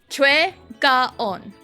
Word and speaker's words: Gaon: Korean romanization is very stupid because again like the the gold medalist in the uh women's halfpipe snowboarding gaon that is her name that is how you say it in Korean.